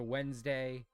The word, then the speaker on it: Wednesday: And then we just shortened it to Wednesday. Even though it's not W day, it's wed nest day.